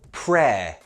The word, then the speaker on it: prayer: the noun of pray the noun is prayer pronunciation be very careful prayer repeat it with me